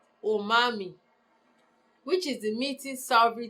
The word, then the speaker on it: umami: So the new taste quality of some umami, pronounced umami, which is the meaty savory taste drives our appetite for amino acids.